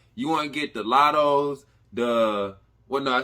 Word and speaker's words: Latto: Like, you want to get the Lottos, I said her name. Is it Mulatto? It's Lotto.